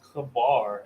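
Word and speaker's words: חבר: it says Chalmer says in the ancient Hebrew is pronounced kabar actually it says to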